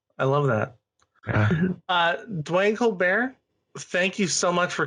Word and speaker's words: Colbert: But the handle is just like Steven, because you know people pronounce my name Colbert sometimes. I don't care. I never correct people, but I pronounce it Colbert. So Colbert, so just like Steven.